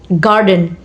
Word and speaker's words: garden: For example, garden, garden. Stress on first syllables.